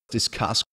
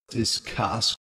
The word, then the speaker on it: discuss: Non-natives are especially likely to aspirate these historically prefixed forms. Mistake. Mistake. Discuss. Discuss.